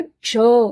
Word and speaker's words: क्ष: क्ष कहते हैं, अ का उच्चारण, अ का स्वर मिलाकर क्ष ऐसे बोल पाएंगे।